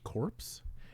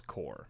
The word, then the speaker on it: Corps: Did you say corpse? Yeah, I wasn't gonna like. That's what it mention says. It's a Core. corpse. But it's core.